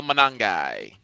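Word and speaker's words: Monangai: In fact, the Bears had both uh I can't pronounce the fellow's name. Kyle Manangai. Kyle Manangi.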